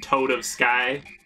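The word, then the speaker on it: Toadofsky: Fucking Toad of Sky. Which is how you pronounce his name.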